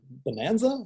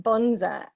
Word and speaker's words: bonza: Did you say bonanza or? Not bonanza. I said I'm Bonza.